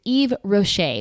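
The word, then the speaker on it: Yves Rocher: And that name is Eve Rocher, which is spelled Y V E S space R O C H E R.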